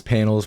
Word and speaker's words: PNLZ: panels and it again it's spelled p nlz um basically enunciated as panels but without the without the vbls and uh the name